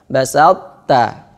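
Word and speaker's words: بسطت: Sedangkan to itu adalah lidahnya ditempelkan ke langit-langit. Basalt itu nempel ke langit-langit atas. Basalta. Nah, itu yang pengucapan yang benar.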